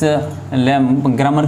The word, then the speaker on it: grammar: Pronunciation के बारे में अगर हम बात करें तो हम इसको ग्रामर बोलते हैं। क्या बोलते हैं? ग्रामर। एक्चुअली होता है इंग्लिश ग्रामर। ग्रामर आर है वो साइलेंट है, क्योंकि आर से पहले